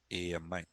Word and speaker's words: AMI: This image in AWS in EC2 this image we call it as AMI.